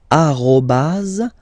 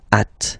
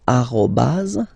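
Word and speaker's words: arobase: So officially we called it arroaz arroaz. Okay. But then well let's be honest we can hear many French people or French speaking people using this at. Okay. Uh but then the French of course at all right uh but officially it should be arro.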